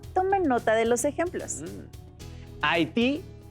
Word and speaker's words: Haití: nota de los ejemplos haití tiene su sílaba tónica en ti al acomodar la de